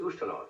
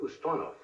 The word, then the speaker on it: Ustinov: Defense Minister Dmitry, they don't pronounce it Ustinov, they pronounce it Ustonov, did not appear in Red Square to review the troops.